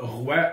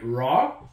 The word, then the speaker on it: Rawr: du monde oublie ça ro oublie ça c'est tout le temps ro là j'ai pensé Monday RA RA c'est comme roi c'est comme le plus proche que les anglais peuvent